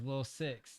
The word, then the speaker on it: Lilsicx: The name is Lil Six. That's Lilsicx, but it's pronounced as like the number 6.